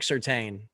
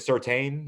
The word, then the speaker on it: Surtain: And when he showed me Patrick, is it Surtain? Is that how you pronounce it? All right. Yeah. When he showed me Patrick Surtain, dude, he was a baller.